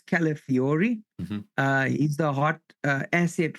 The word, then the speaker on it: Calafiori: Yeah, I didn't want to say his name wrong. It's Calafiori.